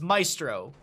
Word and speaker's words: Maestro: How you doing, Maestro? I always struggle with your name because I want to pronounce it phonetically, but English is a crazy language. Like M-A-E is May, but in the spelling it's Maestro.